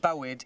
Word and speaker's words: Bywyd: Boyd is spelt similarly, so Boyd is food, Bywyd is life.